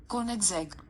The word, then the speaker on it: Koenigsegg: Let me just quickly go to YouTube and check how to pronounce this name. So I just googled right now, and it says the name is Koenigsegg.